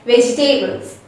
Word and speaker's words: vegetables: e in between them actually we have to forget about the e over there we have to think the e s disappear over here and we have to consider only b e g and t a b l e s okay and forget about the e and then we have to say it as veg doubles actually which let's take